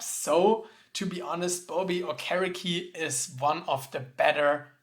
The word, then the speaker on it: Okereke: I think he said something like the pronunciation Okereke was wrong, so Okereke should be the right one.